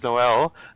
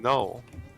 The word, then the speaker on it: Noel: Traditionally, Noel is pronounced as Noel. The original pronunciation became the feminine version of the name, whilst the spelling got a new pronunciation, Noel. Noel.